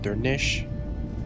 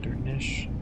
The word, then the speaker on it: Durnisk: Durnisk is pronounced Durnish. Since the final SC cluster sounds like a SH sound, Durnish.